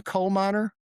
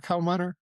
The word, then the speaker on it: Koopmeiners: This guy who's a uh he's a Koopmeiners, that his name like coal miner. Koopmeiners. It sound like coal miner in English.